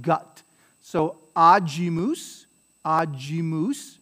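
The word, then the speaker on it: agimus: ga like gut so aajimus mousse right so it's a soft because it was before i aji moose but it's gloria gloria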